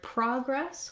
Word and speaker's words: progress: So in the word progress, we have first syllable stress, and you can see there'll be a little line in the dictionary before that stressed syllable. And what that means is I'm going to hold that syllable longer than the second. So pra will be long, gress will be short.